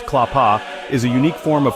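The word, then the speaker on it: klapa: Clapa singing pronounced clapa is a unique form of Croatian ac capella music recognized by UNESCO as intangible cultural heritage in 2012.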